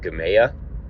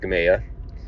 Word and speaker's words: Gamaliel: It's called Gamaya. It's spelled like Gamaliel or Gamaliel, but it's pronounced Gamaya.